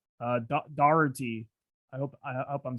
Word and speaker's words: Doherty: appreciate your time uh your pronunciation of doherty was brilliant i mean that is you know oh i got it i think you've got to bang on there because people try that's certainly how it's pronounced in ireland for sure and it's an irish guess i hit